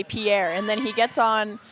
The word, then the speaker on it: Pierre: He tells everyone that we should say Pierre, and then he gets on today's broadcast, and I was shocked to hear him say Pierre.